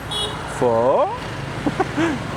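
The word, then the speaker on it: phở: Pho? You need to pronounce it like a question mark.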